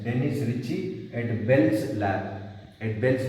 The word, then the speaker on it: Ritchie: While pronouncing T and E are silent. Dennis Ritchie at Bell's Lab.